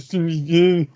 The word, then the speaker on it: Tsushima: No, I said it right. I said the title right. That's how you pronounce the title. Ghost of Tsushima.